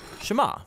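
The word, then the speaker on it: שמע: is hear or listen which in Hebrew is pronounced shama that's where the prayer gets its name now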